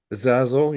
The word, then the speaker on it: Zazel: AEL as as Archangel as zel yes zaz zazel is that how you say it a z a z- l zazel yeah zazel and then Raphael as well was